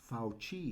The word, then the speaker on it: Fauci: trying to look like falci but i can't get myself to do it but i think the real pronunciation of his name is really fauci oh that's right there's